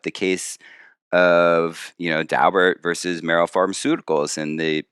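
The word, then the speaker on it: Daubert: just as an aside i know people who know the dalberts and that's apparently how they pronounce their name it looks like it should be dober the uh so that's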